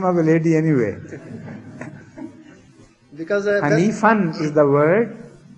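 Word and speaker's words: حنيفا: Because Hanifan is the word, because when it's used when it happens in the end, then you don't pronounce the tanween, that is noon part.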